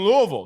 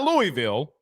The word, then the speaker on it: Louisville: Specman says he's in Louisville, not Louisville. Louisville. The locals in Louisville taught me how to say it when we were up there, went to Churchill Downs.